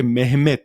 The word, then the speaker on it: Mehmet: দেখতো সুলতান দ্বিতীয় মেহমেদ মেহমেদ বলতে মোহাম্মদ বোঝায় কিন্তু আসলে সাধারণত মোহাম্মদ নামটি তুর্করা সাধারণত সবসময় না রিজার্ভ করে রাখে নবী সাল্লাল্লাহু আলাইহি ওয়াসাল্লাম এর জন্য আর সাধারণ মানুষের কথা যখন বলে তখন উচ্চারণ করে মেহমেদ হিসেবে হ্যাঁ তো সুলতান দ্বিতীয়